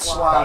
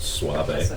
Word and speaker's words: suave: it's pronounced suave.